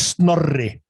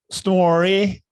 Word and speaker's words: Snorri: Snorri. Yeah. Yeah. I can't do it. I can't roll an R. No. I didn't know that was an Icelandic thing.